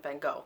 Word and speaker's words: van Gogh: letters of bits and vengo this is how we pronounce it in the United States so no Corrections please